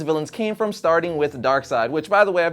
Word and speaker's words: Darkseid: they always pronounce it Darkseid Nazi but to prove my point even more complex and Jack Kirby and creator of Darkseid pronounced it Darkseid not dark seed so I would say